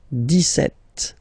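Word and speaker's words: dix-sept: it's clear but then for the pronunciation deset okay so you don't insist on the S deset deset set okay then so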